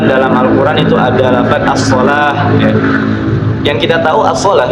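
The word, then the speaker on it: الصلاة: Jadi kalau kita lihat as-shalawat gitu ya, tapi dibacanya shalah gitu, as-shalah. Tapi penulisannya as-shalawat ya, seperti itu.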